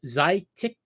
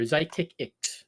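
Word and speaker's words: Xiticix: and I found out the proper way to pronounce it it is zytics or zytic IX is how you pronounce them they are the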